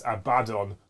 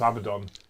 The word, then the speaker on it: Abaddon: reopened it escapades like Amidon has only one being two D's so it's a badon not Abaddon the game's Workshop released